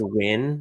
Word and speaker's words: Nguyen: morning I'm doing well one quick correction is pronounced win the last name it's it's very yeah